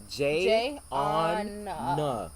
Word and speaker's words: Jayonna: when people say it wrong, I'm like, it's spelled exactly how it's said.